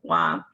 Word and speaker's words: Hua: Bob says to all how do you say your name and she says it's like wa and then Bob says